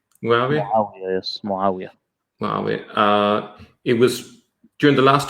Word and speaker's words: Muawiyah: And during the last couple of years, according to Odin, that's when Muawiyah, have I pronounced it correctly? Muawiyah, yes, Muawiyah.